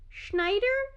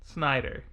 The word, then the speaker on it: Snyder: How do you say his last name? Schneider? Snyder. Snyder.